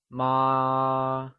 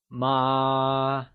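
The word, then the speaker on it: 妈: let's try and say ma once again it is said with a high level tone also known as the first tone ma so remember the first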